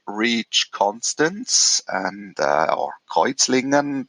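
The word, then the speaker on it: Kreuzlingen: constance and uh or kuizlingen that's the german how to say the swiss city um on the other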